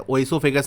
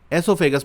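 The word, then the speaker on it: oesophagus: यहाँ ओ साइलेंट है, ओ एसोफेगस नहीं पढ़ा जाता, एसोफेगस पढ़ा जाता है, जिसको हम हिंदी में खाने की नली कहते हैं।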